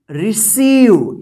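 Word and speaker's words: receive: रखिएगा ठीक है ना जैसे एग्जांपल में यहां पे देखिए आर ई सी ई आई वी ई देखिए यहां पे ई आई एक साथ है ना तो ई आई एक साथ है तो क्या उच्चारण होगा ई तो इसको क्या पढ़ेंगे रिसीव क्या पढ़ेंगे रिसीव क्या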